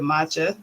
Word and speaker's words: Match HHA: is called match HHA so we pronounce it matcha kind of a play off of the the drink matcha and you know matcha